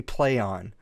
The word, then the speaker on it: Plaion: It's supposed to be Plaion. Plaion, yeah. So they changed their name from a name that nobody can pronounce to another name that nobody can pronounce.